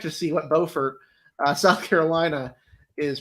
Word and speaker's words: Beaufort: correct actually correction pronunciation north carolina is beaufort south carolina is beaufort so it's beaufort yep again this is